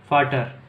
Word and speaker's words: Vater: ओ silent हो जाता है, इसका मतलब अगर अपन फादर लिखेंगे तो VATER, फाटर। इसको बोलेंगे वी, इसके अंदर जो बोला जाएगा इसको बोलेंगे फा। क्या बोलेंगे? फा। तो इसका जो प्रोनाउंसिएशन होगा वो होगा फाटर। ठीक है। और कोई भी वर्ड लिखेंगे उसके अंदर वी को फा ही बोला जाएगा, फाउ नहीं बोला जाएगा, फाउटर नहीं, फाटर ही बोला जाएगा।